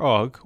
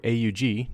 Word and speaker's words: AUG: The Steyr AUG, or AUG, depending on which of these two pronunciations makes you feel better, is a spectacular rifle.